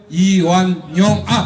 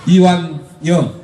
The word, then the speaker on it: 이완영: 저희 지역의 국회의원 이철우, 청주 국회의원 이완용, 실수했습니다. 발음 미스. 이완영.